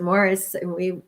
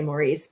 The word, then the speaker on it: Maurice: And if you haven't read, as you pronounce it, Morris, I would think say Maurice, but that's exactly what I think. It goes either way.